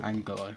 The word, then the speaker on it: Angulo: Angulo, thank you. That's how you pronounce it.